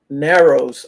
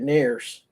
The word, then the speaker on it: Narrows: Oh, Narrows. I've been to Narrows of Virginia. It's far from here. But they call it Nares. Nares. It's spelled Narrows.